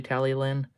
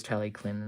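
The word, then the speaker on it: Talyllyn: And a lot of other people say Tally-Lin. But otherwise, Tally-Clin is technically correct as well.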